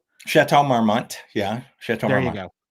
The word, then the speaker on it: Chateau Marmont: And the Chateau, I just want to mention the correct my pronunciation, but it's the Chateau Marmont. Chateau Marmont.